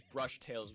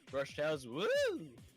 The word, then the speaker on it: Brush Tales: have the name be pronounced not as brush tails woo but brush towels like that so yeah i'm getting